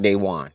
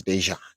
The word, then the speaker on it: Dejan: I'm like I I just want to And if y'all want to know that's how you properly pronounce my my my name. It's not Dewan. It's Dejan.